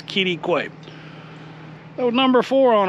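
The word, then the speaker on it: Quitaque: In case you're looking at that going, how do you pronounce that? It's Kittiquay.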